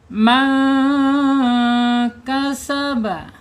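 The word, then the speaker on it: مَنْ كَسَبَ: Lihat di sini nun sukun ada nun sukun menghadapi huruf kaf ya. Nun sukum. Sukun menghadapi huruf kaf ini namanya ikhfa hakiki ya. Man bacanya disamarkan. Disamarkan kemudian ditahan dua harakat man.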